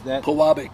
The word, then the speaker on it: Pewabic: Pewabic, yeah. Pewabic. I try my hardest to get these pronunciations.